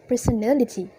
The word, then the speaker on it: personality: moves from per to near so it becomes personality second the stress remains on the same and on the same syllable for example they were unpleasant it consists